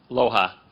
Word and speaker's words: LOHA: Loha.